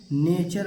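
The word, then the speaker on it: nature: है हमारा अब देखिए यहां पर एन ए टी यू आर है तो इसे टूरे नहीं पढ़ेंगे बहुत सारे बच्चे इसे कहेंगे टूरे टूरे नहीं करेंगे नेचर पढ़ेंगे क्या पढ़ेंगे नेचर यहां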